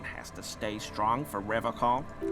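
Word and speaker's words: Revachol: But someone has to stay strong for Revocol. He pronounces Revocol with a hard K, unlike other people. You said Revocol? I like to pronounce it the hard way. The old way. Ugh, the Vespertine way.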